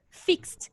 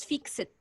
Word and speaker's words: fixed: you pronounce it what you pronounce the verb with t at the end excellent fixed remember this example fixed not fixed not fix it fixed okay okay is it